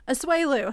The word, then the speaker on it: Asuelu: And Angela actually pointed out that Michael and I keep saying his name wrong too. I think I am. What's his name? Asuelu.